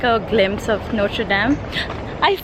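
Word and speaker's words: Notre-Dame: We are on our way to just get like a glimpse of Notre Dame. I said it that way. How do you say it? Notre Dame. Dame.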